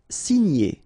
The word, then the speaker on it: signer: Signer, okay? G and N together, ny, ny.